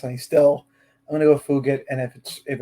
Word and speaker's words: Fugitt: And I just looked it up before I started the podcast, and I'm going to go Fugitt.